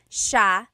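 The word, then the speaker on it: siya: a note about pronunciation it's Sha sha the SI iy combination makes the Sha sound in theog some regions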